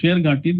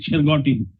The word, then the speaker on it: Shergati: place called Shergati and since the British could not pronounce Shergati they made it Shergoti.